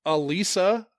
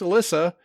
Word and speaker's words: Alisa: Turns out Jane Doe is Alisa, occasionally pronounced Alyssa Davies.